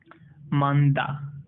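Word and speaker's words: 많다: है, न और ह, न और ह में से साउंड प्रोनाउंसिएट करेगा न का। यहाँ पर देखते हैं ये है मांदा, मांदा, इसका मतलब होता है मैनी। यहाँ पर देखो ह का साउंड प्रोनाउंसिएट नहीं कर रहा है, ठीक है।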